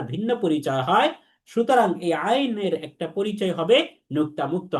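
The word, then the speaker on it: عين: পরিচয় হয়, সুতরাং এই আইনের একটা পরিচয় হবে নুক্তা মুক্ত হরফ, অর্থাৎ এটাও তার একটা পরিচয়। তো নুক্তা মুক্ত আইন হরফটি 3 আলিফ টেনে পড়তে হবে। আমাদের বলতে হবে আইন, আইন, 3 আলিফ টেনে আমাদের পড়তে হবে।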